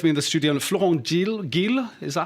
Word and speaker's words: Geel: have here with me in the studio Florent Geel, is that how you pronounce it? Geel in English.